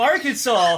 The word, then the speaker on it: Arkansas: So Arkansas, if the reason it's pronounced fucking Arkansas, I would like to assume is due to the French.